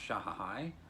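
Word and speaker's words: shehnai: He plays, this is a solo performance, he plays instrument, I believe it's pronounced Shahahai, even though that's not how it's spelled. It's S-H-E-H-N-A-I.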